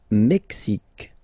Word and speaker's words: Mexique: Le Mexique. Le Mexique. Mexique. It's really the X. Huh? Le Mexique. And then remember this Q-U-E, it's only K.